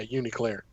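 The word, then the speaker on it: UNICLR: Yeah, Uniclear is how they pronounced it.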